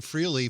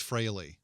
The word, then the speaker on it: Frehley: is Ace Frehley and I've been saying freely for years ace and I'm just finding out that it's Frehley yeah well you know